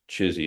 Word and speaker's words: CHSI: context for it so chizy is the acronym chsi pronounced chizy and it stands for